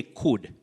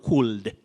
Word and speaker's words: could: Njoki Wanjohi, you say could, not cooled. Cooled, very common but very wrong. L is silent. You say could, should, would.